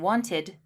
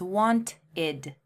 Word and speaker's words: wanted: Well, wanted has an extra syllable. It's want-id. The id adds an extra syllable at the end. The first syllable would be want, and the second syllable, id.